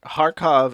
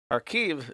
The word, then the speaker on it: Kharkiv: Kharkov is the Russian pronunciation for Kharkov. Kharkiv is the Ukrainian pronunciation.